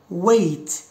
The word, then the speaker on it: wait: أوكي إذا A and I is pronounced like I I، بحال مثلا wait wait ماشي white، wait wait.